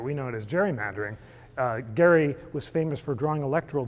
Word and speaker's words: Gerry: Elbridge Gerry of Massachusetts famous for I now pronounce a gerrymandering but we know it as gerrymandering gary was famous for drawing electoral districts that sloped